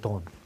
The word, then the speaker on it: dawn: 그래서 From Dusk Dawn, Dawn, 다운으로 발음하지 마세요. 다운. 돈입니다. 돈. 발음이 이렇게 돼요. 돈.